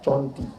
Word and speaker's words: Cerenti: Cara membacanya Conti. Yang mau mencari di internet, mana tahu dia bingung, Ustaz ceramah di mana? Di Conti. Diketiknya di Google, Conti.